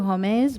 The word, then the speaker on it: Hommes: It's Two Homes, but it's spelled like the French word for man, Hommes.